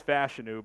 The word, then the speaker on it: Fashanu: out of Penn State it is fashu because uh you know we've been saying fashanu a lot but uh that